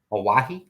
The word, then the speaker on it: Oahe: Mississippi River, Oahe.